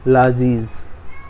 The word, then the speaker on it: largesse: हाँ, अभी इसको जब हम प्रोनाउंस करते हैं तो इसमें आर जो होता है वो साइलेंट होता है। प्रोनाउंसिएशन इसका ऐसे होता है, लाजीज, are will be silent he.